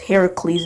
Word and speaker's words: Heracles: from Hercules even though his name is pronounced Heracles in the original Greek this film and bodies